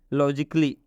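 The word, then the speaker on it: logically: कि लॉजिकली नहीं पढ़ेंगे इसमें भी आप देख सकते हैं कि ए के बाद double L Y double L वाई आया है इसलिए इस एक का उच्चारण नहीं होगा इस ए को हम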